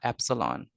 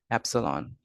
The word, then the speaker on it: epsilon: We call this letter, this Greek letter, epsilon. So let me spell it for you. So we call this epsilon.